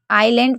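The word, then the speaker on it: island: इल डब्री एल एलैंड वैसे तो एस को पढ़ देते हैं लोग लेकिन आईलैंड पढ़ना चाहिए लेकिन लोग जलैंड भी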